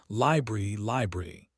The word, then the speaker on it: library: Break the word into 3 clear parts. Libree. That middle syllable, brer, rhymes with rare. Practice it slowly. Library.